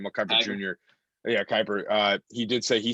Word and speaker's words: Kiper: Yeah, Kiper.